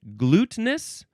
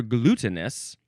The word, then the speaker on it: glutinous: We have glu- let's see, glutinous or glutinous? Two or three syllables. I think I prefer the three-syllable version.